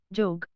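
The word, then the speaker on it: যোগ: साथ ही यह भी ध्यान में रखना होगा कि जब यह पद के आदि में हो तो उसका उच्चारण ज होता है, जैसे यात्रा, जात्रा, योग, जोग।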